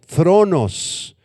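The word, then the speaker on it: θρόνος: Apunta la palabra trono, es la palabra griega thronos, con TH y acento en la O, thronos.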